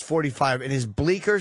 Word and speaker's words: Bleecker: C is, the C is silent.